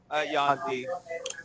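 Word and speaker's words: Yuan-ti: Which is your pronunciation? Yaun-ti.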